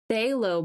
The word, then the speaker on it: phthalo: I don't know where it's at, but phthalo blue. The P is silent.